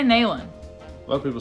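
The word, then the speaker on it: Neyland: Dayland Stadium I say nalen a lot of people say Neelam yeah I read an article that the correct pronunciation is Kneeland Stadium but I say Mainland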